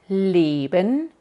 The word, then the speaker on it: leben: sono una i pero escucha bien la diferencia entre lben vivir y liben amar liben liben liben liben y para pronunciar esta e larga tienes que cambiar la posición de tu lengua y ponerla entre la posición que usas para la e corta y para la i entonces e i i e i i eso